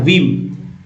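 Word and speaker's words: whim: बोलते हैं, है ना, वीम, जिसमें एच जो है साइलेंट है, वीम उच्चारण करेंगे वीम।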